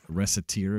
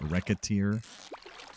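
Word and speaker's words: Recettear: Like, I've mentioned it before, but Reciteer is how I pronounce it. You can also pronounce it Reciteer.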